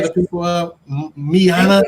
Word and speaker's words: Yana: Miana, don't say it wrong. See, it rhymes with Rihanna.